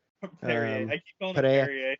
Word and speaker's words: Pereira: And then Israel Adesanya knocks out Alex Pereira. Perrier. I keep calling him Pereira. Perrier. They always say it like Pereira, but I'm like, I'm gonna pronounce those letters because I'm American.